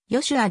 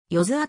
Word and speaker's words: Joshua: となっており厳密にはヨシュアではなくよずアと発音されるがスペルは所